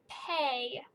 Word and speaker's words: pay: for the y okay the word is pay p a pay see if you got it hey p a y the a makes a long sound the y is silent and the last one